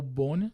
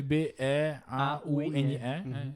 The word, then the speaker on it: Beaune: E na Bourgogne, dá pra você ficar em 2 cidades, que é ou Dijon ou Beaune, que também. Se escreve B-E-A-U-N-E, porque é a pronúncia, né?